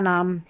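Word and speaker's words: gnome: जी एन को न पढ़ेंगे। देखिए जी एन है। नोम पढ़ा जी साइलेंट है इसमें इसलिए न पढ़ा है।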